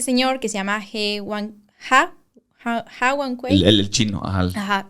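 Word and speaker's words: Jiankui: Está este señor que se llama He Wanquei. El chino, ajá. Ajá, o sea, se escribe G, pero sí se pronuncia Ha, no sé por qué.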